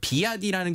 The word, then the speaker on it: BYD: 그러니까 비아디라는 게 이제 중국식 발음이고 이제 원래 이제 미국의 브랜드는 BYD라고 써 있거든요.